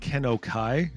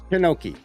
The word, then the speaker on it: Kenoki: I said Kenokai. Is that the correct pronunciation? Kenoki. Kenoki.